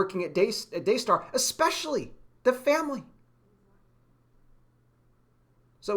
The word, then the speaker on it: Daystar: dayar we don't see we don't pronounce the r in the end we just say dayar it's all day Stars